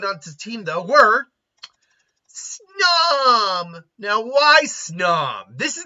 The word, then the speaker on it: Snom: And so I'm going through all the bug Pokemon, and I looked at Snom, because that's kind of how you say it.